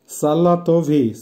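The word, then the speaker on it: салатовый: ফিয়ালেতাভি, ফিয়ালেতাভির অর্থ হবে ভায়োলেট, উচ্চারণ হবে ফিয়ালেতাভি। আবারও বলছি ফিয়ালেতাভি, ফিয়ালেতাভি। সালাতভি, সালাতভির অর্থ হবে হালকা সবুজ বা বাঁধাকপির রঙের মতো, উচ্চারণ হবে সালাতভি।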